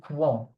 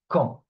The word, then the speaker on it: quand: However, we never say quan. Okay. Qu. The U is never pronounced. So it's not quan. It's quand. We never pronounce the U after the Q.